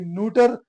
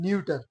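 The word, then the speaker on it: neuter: American English में इसे कहते हैं न्यूटर और ब्रिटिश इंग्लिश में इसे प्रोनाउंस किया जाता है न्यूटर।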